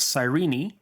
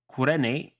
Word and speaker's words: Cyrene: from the city of Cyrene which I believe is pronounced something like qures in Greek and is located in